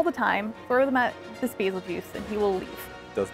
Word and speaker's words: Bazelgeuse: know I'm gonna say basil juice because it's named after the star Betelgeuse and that's how it's